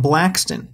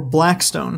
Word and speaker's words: Blackstone: Shawmut Peninsula was originally settled by one man named William Blackston, or Blackstone, depending on how you want to pronounce it.